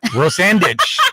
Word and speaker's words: Rosandich: Rosandich. A rose in the sand by a ditch. Rosandich.